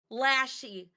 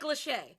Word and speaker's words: Lachey: Also yesterday, I fucking said Nick Lassie. Lassie? What'd you say? Nick So Lachey. Jordan- Lachey? No, I know it's Nick Lachey.